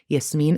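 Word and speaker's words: Yasmine: if you're curious my name is Arabic for Jasmine it's just spelled with a Y so it can be pronounced Yasmin in English yasine in Arabic and if you'd like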